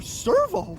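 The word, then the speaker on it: Sirveaux: It sounds the same, only it's spelled S-I-R-V-E-A-U-X. Servo.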